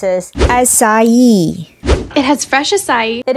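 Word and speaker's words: açaí: number three wait a minute it is not pronounced as Akai instead it is pronounced as sayi it has fresh acai it is a small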